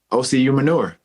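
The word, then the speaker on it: Osi Umenyiora: my name correctly hey how would you say oc human yours like manure yeah ocu manure okay because because because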